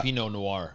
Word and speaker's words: Pinot Noir: red wine especially like a peanut naor is that how you pronounce that uh Pinot Noir that's close you know what I'm saying